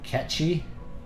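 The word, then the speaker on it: Cait Sith: I've read years ago that Kate Sith is pronounced like Ketchi.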